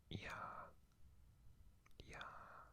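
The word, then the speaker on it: 鸭: this is the chinese character for duck it's pronounced yeah yeah um as you can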